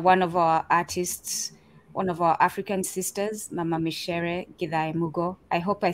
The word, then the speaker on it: Micere: And it's so it's not the pronunciation for rice, but it is Micere Githae Mugo, who parted from this physical existence last week on June 30th.